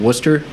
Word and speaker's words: Worcester: or a city called Worcester similarly spelled to Worchester but not pronounced like that correct no not unless